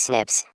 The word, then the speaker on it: SNPs: scientists have identified about 1.4 million locations where single base DNA differences snps single nucleotide polymorphism pronounced as Snips occur in humans this information promises to revolutionize